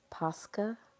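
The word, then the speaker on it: Posca: It's pronounced Pusca. I'll get some Pusca markers.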